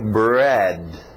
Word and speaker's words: bread: Bread. Engole esse D no final, bread.